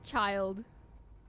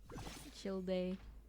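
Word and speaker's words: Childe: heard that before yeah but it is child chill day CH day is a very common mispronunciation so you're not alone honestly for a place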